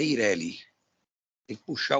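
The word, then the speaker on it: EIRELI: É Ireli. Perfeito. Algumas pessoas chamam Ireli, é o correto. Pode ser Ireli. Eu chamo Ireli. Mas é Ireli.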